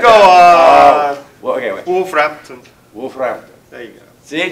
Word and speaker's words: Wolverhampton: Wolverhampton. Yeah. Well, if you're a local, you say Wolverhampton. But yeah. I'm not trying it. They're in the back. Go on. Well, okay, wait. Wolverhampton.